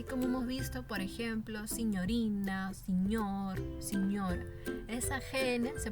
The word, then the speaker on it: signorina: Bien, así como hemos visto, por ejemplo, signorina, señor, señora. Esa GN se pronuncia como una ñ.